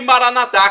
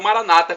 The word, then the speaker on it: Maranatá: E Maranatá, como dizemos nós católicos, ou Maranata, como dizem os evangélicos ou protestantes. Não importa a pronúncia, o significado é o mesmo.